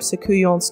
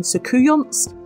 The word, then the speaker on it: Soucouyant: sometimes used to describe Soucouyants too. You'll also notice I'm taking the T sound off the end. It's just generally not pronounced with this word, so it's Soucouyant rather than Soucouyants, which I did make